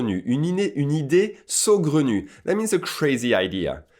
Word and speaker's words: saugrenu: what it means so good on you it's pronounced like this so good on you you need a so Glen you that means a crazy idea and an idea